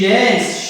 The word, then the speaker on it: danced: okay so from today's you will not pronounce this d with a d sound uh you have to pronounce it like with a t sound dance and let's move